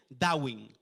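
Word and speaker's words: דוד: Y se pronuncia y se dice Dawin. and is pronounced as Davi.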